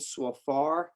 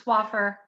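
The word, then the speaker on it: Swaffar: congress district 22 darlene swafar am i pronouncing your last name correctly uh it's so far it's swaffer to offer i apologize no worries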